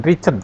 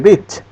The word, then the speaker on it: reached: We reached ya, bukan Richard ya, we reached, pakai D tapi direm, reached.